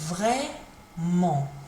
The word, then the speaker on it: vraiment: It's pronounced like this, vraiment. The T isn't pronounced, so vraiment, vraiment.